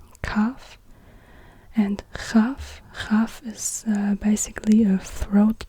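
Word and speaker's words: כף: And yeah, here we have the same situation, Kaf and Chaf. And again, it's the KH is more like in the Scottish word loch.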